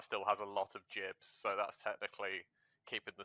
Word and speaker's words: gib: It's short for giblet, obviously. So it's jib.